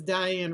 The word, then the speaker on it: Dyan: So it's Diane Reevely. You're right, Julie Parker. It's just that it's spelled D-Y.